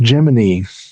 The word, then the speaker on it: Gemini: I think most people do but NASA actually issued and I'm still not sure why a press release that it was to be pronounced Geminy. Gemini.